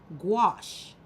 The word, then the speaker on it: gouache: And so gouache, which is spelled G, you saw the spelling g u a ce, but it's pronounced gouache. So, it's like a G with a wash.